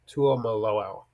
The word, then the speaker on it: Tuimoloau: I even asked him how to pronounce his name. Tuimoloau.